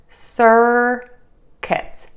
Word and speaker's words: circuit: a circulating electrical current it is pronounced sir kit sir kit circuit circuit circuit circuit